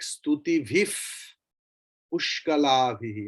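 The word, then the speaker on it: स्तुतिभिः पुष्कलाभिः: After bhihi, visarga is there and then pa. So visarga's pronunciation will be like fakara, upadmani. If after visarga, if anywhere you see either pa or pha, then visarga's pronunciation will be pha also. Like stuti vif pushkalabhi in the last line.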